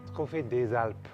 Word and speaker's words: Trophée des Alpes: Did I pronounce that correctly? Trophée des Alpes.